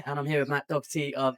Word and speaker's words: Doherty: And I appreciate you pronouncing it with the proper Irish last name pronunciation there, the Doherty.